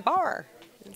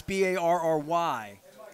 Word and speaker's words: barre: my son's name is b-a-r-r-y there's two syllables Barry you know like like I kept calling it Bari I didn't know how to call it bar just bar just the bar Raven cheerleader lemon years